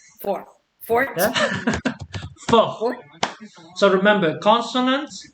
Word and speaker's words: fort: So you would pronounce the R, but not the T.